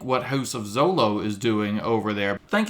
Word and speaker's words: Zolo: Zolo. It actually rhymes with solo.